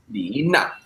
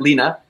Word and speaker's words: Na Li: Her name, I'm going to say it in correct Chinese tones, Lina. That is how you say her name, if you want to say it correctly, but Lina, if your Chinese isn't up to par.